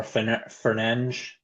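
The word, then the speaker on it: Fernández: and then Fernandez or Fernange as we're supposed to pronounce it.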